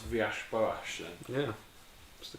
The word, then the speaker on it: Villas-Boas: I also love how you pronounce Villas-Boas then.